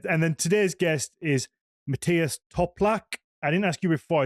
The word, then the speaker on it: Matthias Toplak: And yeah, and then today's guest is Matias Toplac. I didn't ask you before. Is that how we pronounce the the surname?